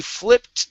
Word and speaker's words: flipped: up we have uh the ed This will sound like a t So he flipped the switch He flipped